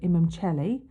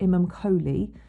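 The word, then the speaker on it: Imum Coeli: part of the heavens the ic stands for imam chelly or it sort of looks like it's spelt imam kholi and that is the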